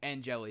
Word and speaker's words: Angeli: Angeli, that's how you pronounce it.